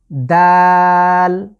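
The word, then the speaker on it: دال: পরবর্তী লেটার হচ্ছে দাল। দাল। দা, এই যে বাংলার দ আছে, দ আকার এবং ল, এটা আমরা 3 আলিফ লং করে পড়ব।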